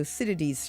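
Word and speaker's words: Thucydides: It's spelled t h u c y d i d e s to citades trap which is a geopolitical theory suggesting that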